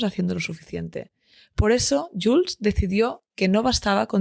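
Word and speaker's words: Joolz: lo emocional, te invito a descubrir más sobre Jules. Se escribe J O o O L Z.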